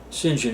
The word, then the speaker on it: St John: Harry Bridger singen philby singen is the way they pronounce St John don't ask me why